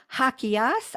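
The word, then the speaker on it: Jaquias: that you could all do that too deslin hakias i am pronouncing her i had to rehearse this one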